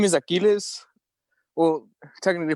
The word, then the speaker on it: Aquiles: your what's your life story my name is aquiles well technically pronounced aquiles um i'm 69 years old um i've lived